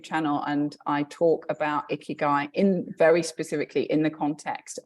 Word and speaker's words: ikigai: You mentioned the term, I think it was a Japanese term, was it ikigai? Oh, ikigai. Yes. Ikigai, sorry. Okay, how do you spell it? It's I-K-I-G-A-I, ikigai.